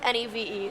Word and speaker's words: Niamh: Yeah, so it's Niamh and pronounced Neve.